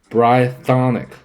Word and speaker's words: Brythonic: And I'll say brythonic. Hey, brythonic. Brythonic. Short I, not long.